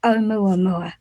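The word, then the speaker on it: ʻOumuamua: but i'm digressing so let's get on to omua because this is absolutely fast have i have i pronounced it properly yeah you did it right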